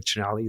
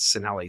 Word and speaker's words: Cinelli: Growing up, you know, Italians, the proper way of saying Chinelli is C-I, right? It's the ch sound. Yeah. But we grew up as Cinelli.